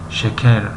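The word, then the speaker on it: şeker: ترک ها، مردم ترکیه، حرف ر رو پره تلفظ نمی کنند. مثلا ما میگوییم شکر. شکر. شکر. لیکن در زبان ترکی شکر. شکر. ر هست اما پر نیست، یعنی شکر.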